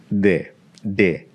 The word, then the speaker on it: de: De. Yeah. Now, that could happen, but in Spanish, your D is more like this, the TH in the word the in English.